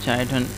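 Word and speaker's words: chiton: Class पॉलीप्लेकोफोरा में जो है तो इसमें जो ऑर्गेनिज्म शामिल है उसे हम काइटन कहते हैं, या चाइटन भी इसे आप प्रोनाउंस कर सकते हैं।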